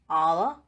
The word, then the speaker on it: hour: In the beginning of some words, letter H is silent because those words are borrowed from French language. For example, honest, hour, honorable, etc.